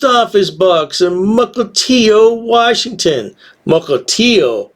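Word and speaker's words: Mukilteo: books and muklitio washington mukultio i pronounced it right mukultio not al it's oh there you go anyway if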